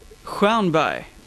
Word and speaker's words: Huanvai: Talking to Huanvai, yeah, or something almost. Like that? Yeah, you can say it like that. I say Huanvai.